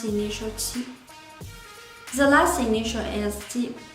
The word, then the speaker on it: qi: So when you pronounce these 3 initials, you need to put the tip of your tongue behind your lower front teeth. ji, qi, xi.